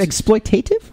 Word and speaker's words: exploitative: And is it exploitative or exploitive?